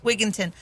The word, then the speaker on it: Wigington: Wigington.